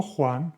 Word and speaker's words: Juan: And you also have the sound G como Juan with the J.